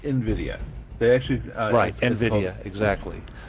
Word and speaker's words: Nvidia: a core absolutely well you know the the Nevada graphics cards one of the best breakfast cards in the world okay well that's hard it's actually pronounced Nvidia they actually write Nvidia exactly how'd you know